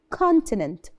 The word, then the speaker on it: continent: we call it continent continent and this o we don't say it co it's continent continent the second thing that